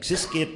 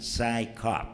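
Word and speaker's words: CSICOP: And we tried to pronounce it like Siskip, or, you know, but it was our enemies who were very nice, and they told us how to pronounce it, PSYCOP.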